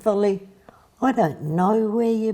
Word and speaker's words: Volly: Now I say Volly, and I've always said Volly, but it's actually Wally. Is you saying it like the German pronunciation of V, Wally, or am I pronouncing it just wrong in saying Volly? How is it spelt? It's spelt, yeah. Well, Voldemar. His name was spelt V-O-L-L-Y, but they're V's or W's. That's right. So in fact, Wally. But most of his friends called him Volly.